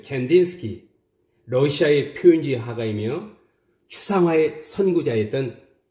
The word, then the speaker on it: Kandinsky: Kandinsky. Kandinsky. 우리는 이 사람을 바실리 칸딘스키라고 합니다. Kandinsky. Kandinsky. 이음절에 스트레스가 오고 있죠. Kandinsky.